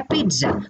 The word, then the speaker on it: pizza: ऐसे हम लोग बोलते हैं पिज्जा, पिज्जा स्पेलिंग है PIZZA, लेकिन बोलते क्या है? पिज्जा, उसमें TR है, उसमें TR है।